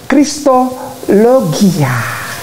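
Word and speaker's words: Χριστολογία: net Yunani koine nah ini dia tulisannya begini dibacanya Christo logia oke nah kristologi ya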